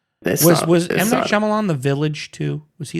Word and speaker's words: Shyamalan: It's called It's pronounced m Shyamalan.